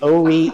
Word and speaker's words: Horry: So long as you don't say the H, I got no problem. The Horry County Museum that's in Conway.